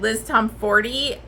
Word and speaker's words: Liz Tomforde: it on audiobook and it said Liz Tomforde, I was like, oh shit. So that's the correct way to say her name.